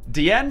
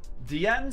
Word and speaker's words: Diene: And yes, I had to look up how to pronounce Diene. And it's Diene Saint of Azera. Diene Saint of Azera. Diene Saint of Azera.